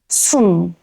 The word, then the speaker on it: 숨: plus ㅜ(u) makes 수(su), with final consonant ㅅ(si-ot) plus ㅜ(u) plus ㅁ(mi-eum) makes 숨(sum) does it make sense?